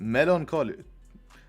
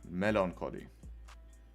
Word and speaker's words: melancholy: Melancholy. But do you pronounce the last one Cholly or Collie? I would say in English it's Collie. Melancholy.